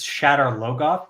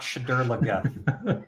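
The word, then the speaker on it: Shadar Logoth: know for sure is it's Shad logoth not shadur shadar go oh I I say it wrong I'm sorry no but that's the show did it wrong and the show was the first time you heard it shadar looth shadur is not shadar looth okay yeah um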